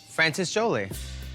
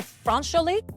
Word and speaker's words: France Joli: Francis Joli. You mean France Joli? Is that how you say it? France Joli.